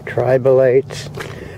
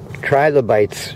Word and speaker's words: trilobites: Yeah, it's funny, I haven't seen any of the ammonites or tribalites or trilobites. I've been saying it wrong for quite a while.